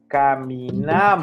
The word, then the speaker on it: caminamos: We will move the accent to a different syllables. Caminamos.